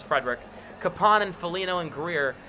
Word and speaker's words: Frederic: Smith krachi zaka poster not Coyle Hall Frederick it's spelled wrong but it's Frederick kapon and Felino and Greer grizzlik and McAvoy